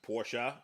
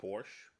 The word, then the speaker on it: Porsche: no substitute David Cook Porsche pronounced Porsche not Porsche cars for three engineered